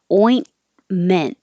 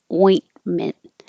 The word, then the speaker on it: ointment: we practiced ointment yesterday the oi your tongue has to rise and so once you get to the in position and you're you're stopping the airflow you don't have to say the T ointment and you go back up to the T position or the in position and you don't release the T so it looks like there's two T's but you won't hear two T's ointment an alabaster flask